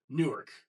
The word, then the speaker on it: Newark: I know one I can think of is Newark. Nerk.